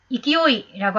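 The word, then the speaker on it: 勢い: 물론 세력이면 세력구라고 읽어야 됩니다만 여기서는 그렇게 읽으면 안 되고 이거는 한자로서 이기오이라고 하는 단독 단어입니다.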